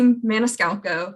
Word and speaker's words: Maniscalco: ms mason was saying my name is chelsea maniscalco that's how you say my last name it's a tricky one um that's the main